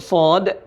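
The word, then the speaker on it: ص: Jadi cara bacanya adalah shad. Dibaca 6 harokat, 6 ketukan, dibaca panjang.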